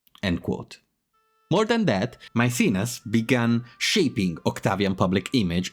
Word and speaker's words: Maecenas: I think I have pronounced Maecenas, Mecenas, Mecenate in 100 different ways, so I will now start using Maecenas. That seems to be the most English pronunciation.